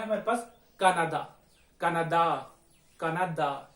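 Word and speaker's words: Canadá: कनाडा, कनाडा, इसको कनाडा बोलते हैं, ठीक है, कनाडा। जल्दबाजी में कनाडा कनाडा निकल जाता है, लेकिन ये कनाडा। इसमें देखिए अंतिम जो अक्षर है वो आ, ठीक है, और इसका जो उच्चारण होता है वो होता है कनाडा, जैसे मामा, पापा, आ लंबा।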